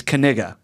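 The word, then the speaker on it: Knigga: I know how it's pronounced how is it pronounced it's kiga kiga yeah all right Noah is such a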